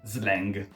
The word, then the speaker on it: slang: in italiano spesso chiamiamo pronunciato all'italiana slang oppure gergo e questo